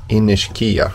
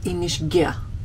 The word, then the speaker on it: Inishkea: great morning here at inish Kia which we visited yeah I think they pronounce it inish G uhhuh I don't know